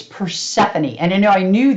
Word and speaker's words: Persephone: It's Persephone.